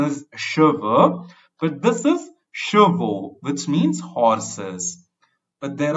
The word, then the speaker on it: chevaux: That means hair in the plural form, and the pronunciation is cheveux, but this is chevaux, which means horses.